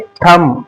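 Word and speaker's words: thumb: इसको पढ़ना है थंब। थंब मतलब अंगूठा। इसको पढ़ना है बम। इसको पढ़ना है दम। ये था रूल बी। देखा आपने किस तरीके से बी को हमने साइलेंट किया।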